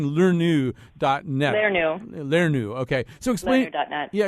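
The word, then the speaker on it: lernu: Learnu.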